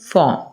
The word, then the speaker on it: form: अब ये फॉर्म जो है आर कहां पे है? एम से पहले। एम क्या है? कसोनेंट है। तो कंसोनेंट से पहले रा को प्रोनाउंस नहीं करते। ऐसी सिचुएशन में फॉर्म।